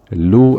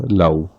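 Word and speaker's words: لَوْ: So, the fatha here means we do not pronounce this as lu anymore, we pronounce it as law.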